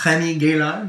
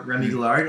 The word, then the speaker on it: Remi Gaillard: If you guys haven't seen Remi Gaillard, or Remi Gaillard, as Graham pronounces it, definitely check out his video.